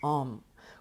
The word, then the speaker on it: Om: And its bija mantra is Om, which is spelled A-U-M, which we will chant together at the end of this session.